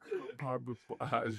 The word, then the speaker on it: compartmentalize: Compartmentalize, you're right. You can still lay low on the first syllable.